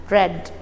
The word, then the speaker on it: read: form of read children yes red but there won't be indifference in the spelling the spelling would be the same but when we pronounce it we'll pronounce it as red okay so now the